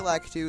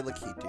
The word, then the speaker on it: Lakitu: to a new enemy called the lackatoo or lakitu depending on how you pronounce it i say lack too some people say look he do it doesn't really matter